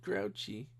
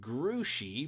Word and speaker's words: Grouchy: "Why is he called Grouchy?" "Because that's his name," said Mrs. Zimmerman. "Only it's pronounced Grouchy because it's a French name.